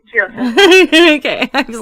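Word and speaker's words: Jiosa: Nestor Torres, and 4-time Grammy nominated guitarist Denny, and is it Jehoza? Or Jehoza? Jehoza.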